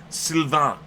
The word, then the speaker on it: Sylvain: Sylvain.